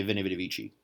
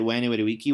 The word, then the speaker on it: Veni Vidi Vici: They pronounce it like it's Italian, so they say Veni Vidi Vici. So if you say it Veni Vidi Vici, which is the like